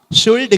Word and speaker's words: should: ඊට පස්සේ මම මුලින්ම කියලා දුන්නා should should කියන වචනේ හැදෙන්න l තිබුණට l ශබ්ද කරන්න එපා. l කියන්නේ silent letter එකක් ඒ word එකේ නිහඬ නිශ්ශබ්ද අකුරක්. should කියන්නේ should විතරයි.